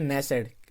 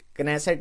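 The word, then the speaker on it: Knesset: Israel, Israel की जो parliament है इसको हम कहते हैं नेसेट, कनेसेट नहीं, इसका मेरे को पता है क्या कहते हैं, ठीक है, प्रोनाउंसिएशन इसकी मैं सही ले रहा हूँ, नेसेट कहते हैं इसराइल की पार्लियामेंट को।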